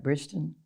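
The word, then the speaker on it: Bridgerton: Bridgeton. I don't even know if I'm saying that right. Bridgeton.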